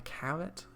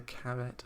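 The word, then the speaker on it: caret: settings for the like the carrot is that how you pronounce it just to rhyme with carrot I don't know but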